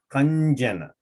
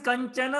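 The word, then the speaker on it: काञ्चन: So kanjana. Should be kanjana. No, the pronunciation is Kanchana only.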